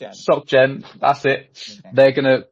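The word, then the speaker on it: SocGen: I'm going to butcher the name." Um, right. There we go. So, socialeng socken. Sockgen.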